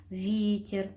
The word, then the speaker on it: ветер: зерно и вырабатывают электричество veter удаление падает на букву е должны запомнить букву е